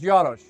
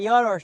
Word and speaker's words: Jaros: I always say Yaros, but Yosh. Close. Yeah. Yosh. You know, it could be like the next county over. They could say it like that, you know, but it's it's the the hard J.